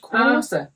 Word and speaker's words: kose: In Norwegian, they would say it is kose. Kose. Not to for the island of Kos, but kose, which is also hygge.